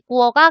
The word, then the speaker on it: 过: 이 구어가 경성으로 발음을 하고요.